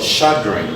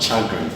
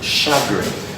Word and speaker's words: chagrin: This is called chagrin, not chagrin, chagrin.